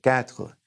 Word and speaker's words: quatre: And the number 4 is quatre.